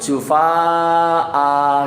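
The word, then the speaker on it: جفاء: Tidak ada alifnya, tapi nanti ketika berhenti bacanya itu jufaa gitu ya Bu ya.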